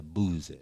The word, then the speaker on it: Boosie: Did I say his name right? Was it Boosie or Boozy? You know what I'm saying? Boosie badass. Boosie badass. That's how it's supposed to be.